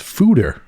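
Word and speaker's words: foeder: just looked it up that word is pronounced fooder the oak fooder yeah and its simplest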